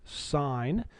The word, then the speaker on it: sine: be looking at six trig functions today called sign you need to know the um abbreviation for